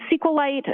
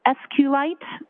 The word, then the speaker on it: SQLite: how is that spelled it is capital SQL lowercase i t and sqlite uh is also commonly pronounced as esite so both pronunciations are acceptable now once you received